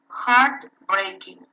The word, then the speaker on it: heartbreaking: For example, in your book you have heartbreaking, heartbreaking. Yeah, so the stress is in heart, no?